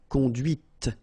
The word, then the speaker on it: conduite: And that's when you hear the difference between conduit, because remember, final T is not pronounced, conduit, here, and then the feminine, conduite. Okay, so here you can listen to this t, t, okay, conduite, all right?